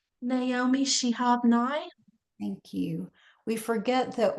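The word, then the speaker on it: Naomi Shihab Nye: Can you pronounce the author's name? Naomi Shehabni.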